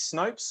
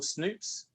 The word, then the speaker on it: Snopes: but the i think the u.s equivalent is snopes or snoops i always always forget pronounce it but snopes is yes utterly yeah they're utterly amazing um